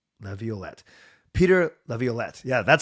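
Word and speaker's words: Laviolette: Leavette. Leviolet. Peter Leviolet.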